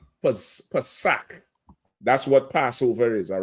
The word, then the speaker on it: Pesach: Pesach is Passover, like Kazakh or Kamawar. It's not K. It's that K sound. What somebody who is uneducated would say ch. They would say cha, right? Because they're uneducated. It's K. Pesach.